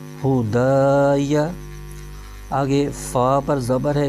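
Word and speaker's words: هداي: ہجے یوں کریں گے، ہا پیش ہو، دال الف زبر دا، یا زبر یا، ہدایا۔ آگے فا پر زبر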